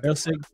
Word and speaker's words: Erceg: Erceg. Okay. Erceg.